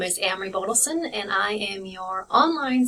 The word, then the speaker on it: Amery: So again, my name is Amery. If it helps you to remember it, it rhymes with Camry, like Toyota Camry.